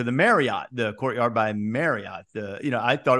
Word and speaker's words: Marriott: the Courtyard by and they put in parenthesis after Courtyard by parenthesis m a r y hyphen it t Drilling it into my head to pronounce this Courtyard by Marriot Marriot I I don't